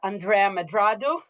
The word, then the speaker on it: Andrea Medrado: My name is Toby Miller, and my guest today is Andrea Medrado or Andrea Medrado, the way to pronounce it in the Anglophone world.